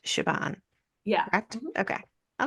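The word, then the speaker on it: Siobhan: s i o b h n but it's pronounced shabon yeah cor okay I like that that's cool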